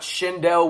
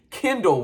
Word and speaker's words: Kendall: me a heads up it is not shindell Weaver it is Kindle Weaver it's just spelled differently